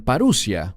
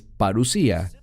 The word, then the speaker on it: parusía: Algunos la pronuncian parusia, pero es parusía.